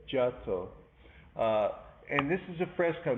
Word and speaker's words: Giotto: This is by the artist Giotto. Some people say Giotto, but they say Giotto.